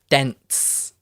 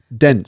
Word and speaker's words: dents: okay yeah and one more um the the dense d-e-n-t-s dense so it's a dent is like when let's